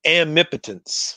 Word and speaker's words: Amipotence: So how do you pronounce it? I say it Amipotence. Oh, Amipotence.